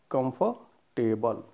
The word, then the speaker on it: comfortable: It is comfortable. R is silent here, completely silent here.